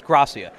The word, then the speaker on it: Grassia: It's Grassia. I was almost there. You're almost. You know what? Everyone pronounces it wrong when they first do it.